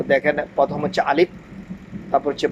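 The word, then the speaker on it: ألف: আলিফ উচ্চারণ হবে আলিফ। আলিফ। আলিফ। আলিফ। এভাবে হবে না। উচ্চারণ আলিফ।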